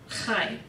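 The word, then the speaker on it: חי: go over the vocabulary life is High one syllable hi like you were saying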